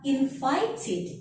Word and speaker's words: invited: So when you have the verb that ends with T or D and you want to change it into the past simple or past participle form, you have to stress it in the end. Invited, divided.